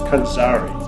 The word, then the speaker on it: Konxari: it's pronounced kanari and it's actually derived from the Egyptian word